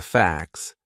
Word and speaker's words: facts: Some people write I don't know but facts f a c ts. So that would be a silent t. It's in between a c and an s. Two consonant sounds. Facts. And it sounds exactly the same as f ax. F ax.